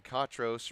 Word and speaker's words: Catros: uh grandmother in Atlanta the cot in katros rhymes with hot we'll get it right